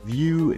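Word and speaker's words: Vue: along with it you gotta go check out view Dylan that's spelled v-u-e Dylan and out to number five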